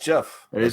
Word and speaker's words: GIF: christmas they hate it because nobody can afford gifts there or gifs where it's in russia it should it should be pronounced jeff like the brand of peanut butter okay i